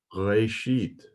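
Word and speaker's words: ריש: This letter is pronounced in the back of your throat. Move your tongue back a little bit in the back of your throat and pronounce it resh. It's pronounced back here, not with your lips in the front. It's not resh, pronounced with the lips.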